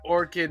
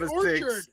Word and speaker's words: Orchard: say that the bone orchid Mythos you said it right Orchard not Orchid orchid's a flower Orchard is a place with tree orchard the bone Orchard